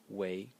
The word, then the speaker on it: 隹: So the first character is pronounced wei, in the second tone, and it has two meanings, or two meanings that I know of and that I use very often.